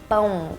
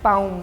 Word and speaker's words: pão: So the word is pão. Pão. Pão. Ooh, you did a good job. Ooh. Usually the problem with Brazilians is, with foreigners trying to learn Portuguese, Brazilian Portuguese, is the nasal sound, but you did a good job.